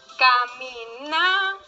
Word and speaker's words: caminaba: No tiene tilde, se va a dificultar un poco, pero es na, la sílaba na. Ahí está, caminaba, es la sílaba prosódica o el acento prosódico.